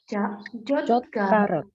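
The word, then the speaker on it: 젓가락: Kalau sumpit, ini dibacanya Jotkarak. Jotkarak. Ini dibaca huruf K juga ya.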